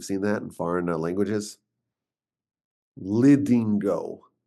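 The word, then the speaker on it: Lidingö: And indeed in a very beautiful suburb of Stockholm, a place called Lingo. It's spelled with like symbols on top of the letters. You've seen that in foreign languages. Lingo.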